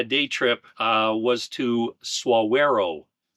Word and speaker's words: Saguaro: trip uh was to suero National Park not SE yeah I actually went